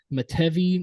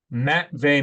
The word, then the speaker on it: Matvey: They are loading up to draft Matevy Michkov. Yeah. Matvey Michkov.